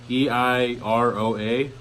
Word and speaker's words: Eiroa: This is the Asylum Schizo, and a little fun fact is about Asylum is Christian Iorioa. I don't know how to pronounce his last name. It's Eiroa.